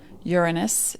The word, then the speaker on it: Uranus: is a planet and that's how it is pronounced uranus it's a greek word means the heavens and